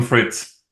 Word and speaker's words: Fritz: do you say your last name sir Fritz Fritz okay I have like turl t i